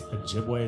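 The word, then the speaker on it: Ojibwe: In their oral tradition, the word sab translates in their I think it's Ajiway is how you say the name of their people, but it translates to giant.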